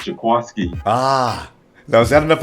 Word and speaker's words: Jaquiski: It's spelled Jaquiski, but they said it's pronounced Jaquiski.